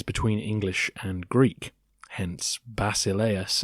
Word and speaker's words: basileus: English and Greek hence basileus as you might see it on the page uh in England or America would sound more like vasilef in Greek and yes it's definitely